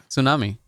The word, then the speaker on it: tsunami: that it happens in Japan a lot okay tunami what say it again tsunami yeah okay what the you but you have